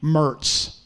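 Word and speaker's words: Moritz: called Mertz Tavern m-o-r-i-t-z Mertz yeah that's like you know one of those Adams County pronunciations but the bullfrog Road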